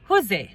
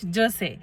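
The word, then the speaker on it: José: তো কারোর নাম যদি জে ও এসই হয় এরা সেটাকে বলে হুজে নট জোসে।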